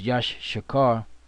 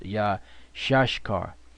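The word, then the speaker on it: Issachar: that means happy now isar is yashar which we used to think it was Yash shakar which is not the the proper way to pronounce it which Elder toar brought out is yah shashar yah shashar because yashar means he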